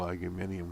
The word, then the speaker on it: aluminium: New tariffs on aluminum and steel, aluminium, whichever way you want to pronounce it.